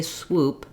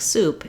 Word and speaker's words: swoop: drop the oo sound so if somebody's trying to say swoop and it comes out sounding more like soup it's because they have difficulty moving from the W to the oo and if you watch